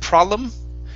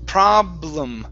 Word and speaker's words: problem: is the word problem make sure to pronounce the b you had said problem okay it's problem problem problem good one more time